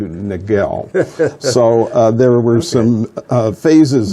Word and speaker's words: Niguel: wheel and wheel is the village that the Spanish corrupted into Nick well Nick well it's their pronunciation of what we corrupt into Niguel so there were some